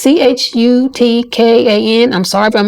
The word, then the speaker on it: Chutkan: Judge Tanya, I think it's called or pronounced Chutkan. It's Chutkan.